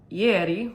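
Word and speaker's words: ieri: the way down and this shawl is called yeti which is italian word for yesterday and it's spelled i-e-r-i and it's by maria nicole um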